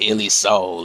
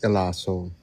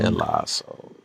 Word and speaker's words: Elaso: So, let's get Illy soul in. Man, I ain't heard from the world. All right. My name is pronounced Elaso, but all right, man.